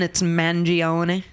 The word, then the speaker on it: Mangione: So, okay, are we coming to a consensus then? It's Mangione. Yeah, I'm good with that. Can you spell it again? Mangione. Yeah, Mangione. Mangione, that's another way. Yeah. Well, I think that's the way he's saying it sounds Italian. You know what I'm saying?